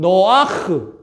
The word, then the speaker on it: 노아: 그래서 에녹은 에노크, 노아는 노아흐, 좀 비슷하게 들리죠?